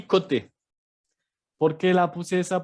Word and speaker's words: côté: Hay un acento agudo, entonces vamos a decir côté, que es el lado.